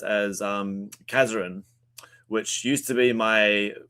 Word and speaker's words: Kazaran: Um, so it was a so it used to be um pronounced as um Kazarin, which used to be my uh professional wrestling name uh back in like 2018 or so.